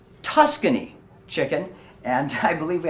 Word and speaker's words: Tuscany: preparation and you sir aha yes oh the Toscani chicken the roadkill Toscani chicken is that what you're referring to uh it's actually pronounced Tuscany chicken and I believe we have a special